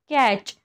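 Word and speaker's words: catch: टी हे silent राहतं याचे एक्झाम्पल बघा कॅच बघा इथे टी सी एच आलेला आहे लास्टला मॅच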